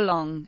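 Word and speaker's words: 龙: The Chinese name for dragon is pronounced long in Mandarin Chinese or Lunjin Cantonese.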